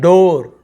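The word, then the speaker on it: door: पुअर, यहाँ पर भी ऐसे गरीब वाला पुअर, पूर नहीं बोल रहे हैं, इसे हम क्या बोलते हैं, डोर, डोर ऐसे बोलते हैं, डूअर नहीं बोलते, डोर।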